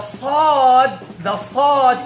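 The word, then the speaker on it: ص: The sad is produced just like the sin, but there's a difference. There's one thing that makes sad different from sin. Who knows? I mentioned it. The back part of the tongue should be raised.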